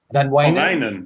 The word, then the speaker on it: Van Wijnen: Holland, there's I'm not sure I'm going to pronounce it correctly, Van Wingen? Is that? Van Wijnen?